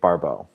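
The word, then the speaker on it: Barbault: So, first of all, who was Andre Barau? You know, in French, his last name is pronounced Barau.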